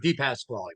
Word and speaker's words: DePasquale: endorsed candidate um Pasqual am I pronouncing your last name correctly by the way it's Clos enough deep pass quy but it is closed enough pass quy okay apologies um so